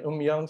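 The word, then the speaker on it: 음양: So I don't think there are any Koreans in the meeting, but that's Korean umyang. So you might've heard of yin yang. That's the more familiar Chinese pronunciation.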